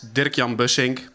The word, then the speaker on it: Dirkjan Bussink: is my name i'm uh it's called it's dirk yam bushing probably nobody except dutch people can pronounce it you can find me online usually